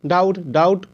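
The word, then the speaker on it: doubt: कर्ज उसके बाद डी ओ यू बी टी डाउट पढ़ेंगे इसको डाउट नहीं पढ़ेंगे डाउट नहीं पढ़ेंगे डाउट पढ़ेंगे ब का उच्चारण या बी का उच्चारण नहीं करेंगे आवे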